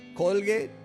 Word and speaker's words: Colgate: un hombre se llama william colgate colgué si usamos la pronunciación del inglés usamos salvo que bueno